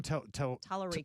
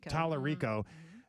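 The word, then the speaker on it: Talarico: For those that do not know who this gentleman is, this is, how do you pronounce his last name? Tallarico. Tallarico.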